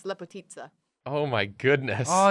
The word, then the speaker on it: Lepotica: Lepotica, but it's based off of a Serbian word, so the ICA is pronounced as like an Italian ST. Z. Yeah. Yeah, so it's Lepotitsa.